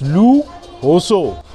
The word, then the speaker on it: Lujoso: I am in Lu Jo So, and in Spanish it's Lu Hoso.